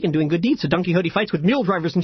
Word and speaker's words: Don Quixote: minute book repurposes a last minute book report Don quick so T which is pronounced Don Quixote by Miguel de Cervantes this really old dude